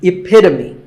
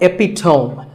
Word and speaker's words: epitome: example of something and the perfect pronunciation of that is epitome it's not epitome once again epitome of course once you